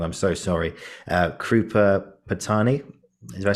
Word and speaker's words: Krupa Patani: I'm going to pronounce her name wrong. I'm so sorry. Krupa Patani.